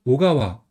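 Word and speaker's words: 小川: 23번은 오가와 고키입니다. 성 같은 경우는 이제 오가와라고 이렇게 있습니다. 그래서 작을소 그다음에 내천이 합쳐서 오가와 작은소 같은 경우 보통 오라고 많이 읽어요.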